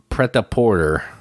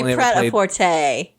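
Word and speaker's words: Prêt-à-Porter: this game is called Preta Porter or how I don't know how you say it PR Porter and it's really PR aorte cuz if you're that's French it would be Porte but whatever it's ready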